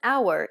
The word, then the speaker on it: hour: contain a silent h the word hour in english contains a silent h sound so there is still